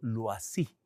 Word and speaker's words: Loisy: Hay un nombre que es tristemente célebre dentro de este fenómeno y es el de un sacerdote de apellido Loisy. Se escribe L-O-I-S-Y.